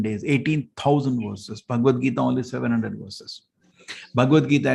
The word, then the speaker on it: Bhagavad Gita: What's the right pronunciation? Bhagavad Gita.